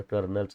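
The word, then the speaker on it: colonel: विचारायचं अरे छान बरं कर्नलच स्पेलिंग काय मुलं हमखास चुकायचे कारण उच्चार कर्नल आहे पण स्पेलिंग आहे सी ओ एल ओ एन एल मज्जा यायची थोडी आपल्याला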